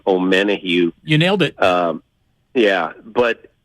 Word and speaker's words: Omenihu: Charles, I'm going to mispronounce his last name, Omenihu.